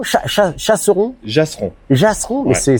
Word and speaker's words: Jasseron: Donc on est à Chasseron, Chasseron, Jasseron. Jasseron, mais Ouais. ça s'écrit PCH? Non, J. Ah, c'est un J.